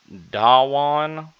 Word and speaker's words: Dhawan: licensed Bluebird 6 satellite is set to launch on December 15th from the Satish, excuse me for trying to pronounce this, Dhawan Space Center in India.